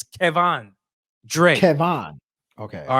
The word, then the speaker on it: Kevan Dre: He said pronounce his name correctly. It's Kevan Dre.